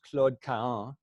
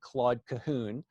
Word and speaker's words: Claude Cahun: So Lucy Schwob became, in French, her name is pronounced Claude Cahun. Most English speakers, especially in the United States, tend to pronounce it Claude Cahun, which is not phonetically correct in French, but